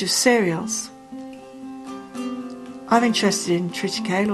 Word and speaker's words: triticale: cereals I'm interested in triticale or triticale some people pronounce it and it's the one